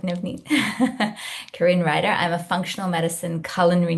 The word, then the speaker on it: Karine Ryder: Karine Ryder, I'm a functional medicine culinary nutritionist.